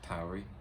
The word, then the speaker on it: Tauri: It's pronounced Tauri, not Tory.